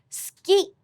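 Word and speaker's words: スキー: That's why ski is pronounced with an unvoiced u.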